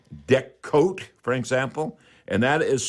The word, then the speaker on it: Deckote: And I would use products like Deck Coat, for example, and that is spelled DECKOTE.